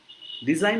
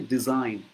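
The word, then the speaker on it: design: has golden ডিজাইন inside ডিজাইন বানান কি ডি এস আই জি এন কিন্তু জিটা উচ্চারণ হয় না সাইন যেমন সাইন সিগনেচার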